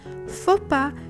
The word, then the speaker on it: faux pas: We say chassis to mean the frame of a vehicle, bourgeois to mean a person from the noble class, faux pas to indicate a tactless act, rendezvous to mean a meeting, à propos to say with regard to.